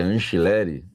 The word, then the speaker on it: Angileri: Que o meu amigo argentino falou que é Anchileri. Só eu falo Anchileri, né, velho? É ridículo isso. Mas ele falou que a pronúncia é certa, eu tô seguindo ele, né?